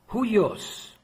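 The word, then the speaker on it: υἱός: Le mot fils en grec, c'est huios, avec un Y qui se prononce hu, et il est majuscule.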